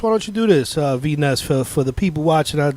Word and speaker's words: V Ness: Is this V Ness? Going on? Yes, it is. How you V Ness on the calling.